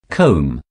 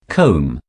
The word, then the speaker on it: comb: mispronounced by non-natives because they think that the last letter b has to be pronounced don't worry we will teach the correct pronunciation say it thrice with me comb comb comb number five almond the